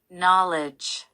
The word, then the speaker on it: knowledge: 첫 번째 스펠링 K는 소리가 나지 않는 묵음이기 때문에 그 뒤에서부터 발음을 해주시면 됩니다. 강세는 첫 음절에 있으니 이 부분을 강하게 읽어주세요. Knowledge, knowledge.